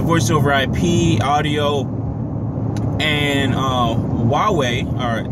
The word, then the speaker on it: Huawei: working with the voice over IP audio and Huawei, or it's spelled like H-A-U-W-E-I. Huawei, I believe it's a China company or Asia company, pretty much took all his stuff.